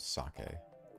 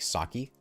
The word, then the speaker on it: sake: Sake. I'm good. You know what always annoys me? Um, when people pronounce sake as like saki, always just always just